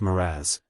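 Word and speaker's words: mirage: and Mari AG m i a g is pronounced moraz said valency shortly picking up her tea and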